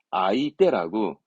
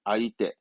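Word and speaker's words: 相手: 상수가 아니라 상대방을 의미하죠 상자는 원래 상 그러면 음독으로는 소로 가야 돼 대짜면 손숫자면 원래는 이제 음독이니까 우리말로 숫자니까 슈 하는데 발음은 아이 때라고 상대를 말할 때 i와 손을 말하는 대를 묶어서 아이 때 뜻은 상대방의 상대 아이떼 알고 계셨다 그러면 원래이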